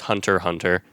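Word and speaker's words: Hunter × Hunter: into hunter x hunter which i believe is pronounced just hunter hunter hunter x hunter yes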